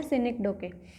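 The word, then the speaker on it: synecdoche: सिनिकडोके, सिनिकडोके, इसकी प्रोनाउंसिएशन है सिनिकडोके।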